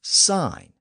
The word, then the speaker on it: sign: in a stop sign and sign is another word that has a silent letter in it as a Latin marker of course it's the letter G we don't really need that g in there but compare the word